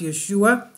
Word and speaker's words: Yeshua: Several other differences were also recorded, including the spelling of the word Son of God, which was originally spelled Jesus and pronounced Yeshua, the full name of Jesus in Hebrew.